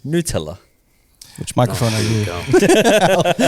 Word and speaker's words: Nutella: it's not Nutella, it's Nutella.